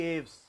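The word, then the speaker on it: Aves: क्योंकि हमने हिंदी में पढ़ा है ना, तो नहीं, वो सब ठीक है, पढ़ा क्या जाता है ये बताओ, एविस की एव्स? एविस, तब ठीक है, क्योंकि प्रोनाउंसिएशन में गड़बड़ी है ना।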